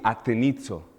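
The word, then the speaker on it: ἀτενίζω: Dice que cuando oyó a Pablo hablar y él fijó los ojos, esta palabra fijar los ojos en el griego se pronuncia así, atenizo.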